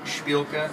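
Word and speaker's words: Shpilka: ask well how do you say the name shilka is how you pronounce it s h p i l Ka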